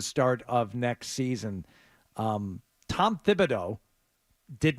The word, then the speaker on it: Thibodeau: It is Thib, by the way. I know we all say Tib, and that was his nickname, but that's I didn't mispronounce it.